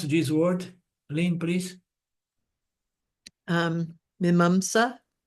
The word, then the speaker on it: Mimamsa: Without this method, how you pronounce this word, Lynn, please? Mimamsa.